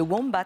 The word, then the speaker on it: wombat: Alors, on peut le prononcer de, comme on veut. C'est ou womba, ça marche.